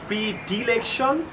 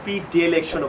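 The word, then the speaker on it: predilection: So number 9 ওয়ার্ডটা নিয়ে আমরা কাজ করব ইজ প্রিডিলেকশন অথবা প্রিডিলেকশনও বলতে পারেন। ডি বলে ব্রিটিশরা, ডে বলে আমেরিকানরা।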